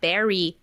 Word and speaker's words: bury: put in the ground it's the same pronunciation as the berry in Strawberry yeah Berry the sand